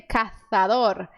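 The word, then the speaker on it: cazadora: acontece o fenômeno linguístico eles pronunciam o z com a língua entre os dentes então eles dizem caçadora sou rota tá assim que os espanhóis falam já na América letra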